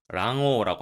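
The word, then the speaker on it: 卵黄: 그리고 계란 노른자를 난황, 랑오라고 합니다. 참고로 계란 흰자는 남백, 람바크라고 하니까 세트로 외워주시면 좋겠죠.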